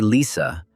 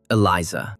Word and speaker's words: Eliza: Still with the same smile, the goblin asked not to say Lisa, but to pronounce Eliza, but she insisted on her own.